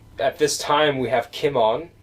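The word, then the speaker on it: Cimon: this time we have Kim on um the leader of Athens who was extremely Pro Spartan sometimes pronounced Simon that sometimes pronounced Simon um Sparta actually has a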